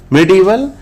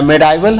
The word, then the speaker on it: medieval: 116 MEDIEVAL, मिडिवल या मेडाइवल हम लोग बोल देते हैं, स्पेलिंग याद रखेंगे, MEDIEVAL